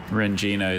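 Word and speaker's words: rendzina: Rengina is spelled R-E-N-D-Z-I-N-A.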